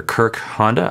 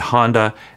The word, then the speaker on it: Kirk Honda: my name is Dr Kirk Honda I'm a therapist and a professor sometimes I say my name is Kirk as in Captain and Honda as in the lawnmower or because that's kind